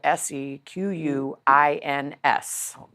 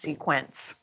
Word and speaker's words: Sequins: Sequins is spelled Sequins. Sequins, not sequence. That's a common mistake.